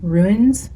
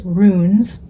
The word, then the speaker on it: runes: I know a couple of you have got on me for saying ruins, but it's runes like tunes, which I asked uh chat GPT how to how to say it or tricks on how to say.